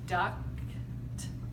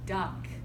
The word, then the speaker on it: duct: I spelled it because you say it like this, duct, right? But then you're gonna hear me say duck, right?